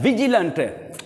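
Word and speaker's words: vigilant: एंड द विजिलेंट, वी दांत, ऊपर वाले जो दांत है नीचे वाले होंठ को लगाकर वी को प्रोनाउंस करना है, विजिलेंट चौकन्ना, होशियार, मुस्तैद, फाल।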